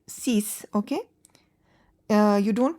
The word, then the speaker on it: six: Six in French is cease. Cease. Uh x is not pronounced and it is pronounced as s.